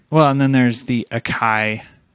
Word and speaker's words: Akai: Well, and then there's the Akai. Is that how you pronounce it? AKAI? Yeah. Akai. Akai.